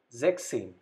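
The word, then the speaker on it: sechzehn: at the end so we have to discard s from six so what the left out word here zek plus same so sex same number 16.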